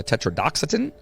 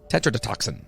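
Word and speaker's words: tetrodotoxin: uh substances like uh tetraoxatin OR tech oh did I said it wrong Tetra dot do toxin Tetra to toxin there you go toxin which is the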